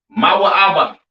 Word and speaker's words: Moab: have Moab all right Moab pronounced ma ABA right the children of